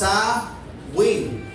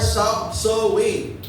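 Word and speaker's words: Samhain: celtic festival of samain Okay pronounce sa Wing or so Wing which Mark the end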